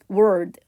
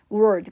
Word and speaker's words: world: 교통체증 이걸 얘기합니다 그리고 word는요 세계 세상이 발음이 선생님도 조금 힘든 발음인데 우리나라 사람들이 이렇게 r과 l이 붙어 있는 발음을 좀 잘 못한다고 해요 world world 그리고 단어를 외울 때도